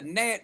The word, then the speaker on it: gnat: How you gonna spell a how you gonna spell a gnat with a G?